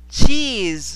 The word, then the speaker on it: cheese: Cheese. So, cheese con Z.